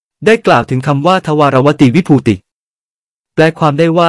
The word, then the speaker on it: ทวารวดี: เขียน ด้วย ตัว อักษร คำ ว่า ทวารวดี มา ให้ ดู ทำ ใน ใจ ลึก จะ ออก เสียง เป็น ทวารวติ ใช้ ต่อ เต่า นะ ครับ หลัก ฐาน ทาง